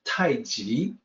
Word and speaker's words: tai chi: romanization of tai chi it always was supposed to be pronounced taiji but nobody knew that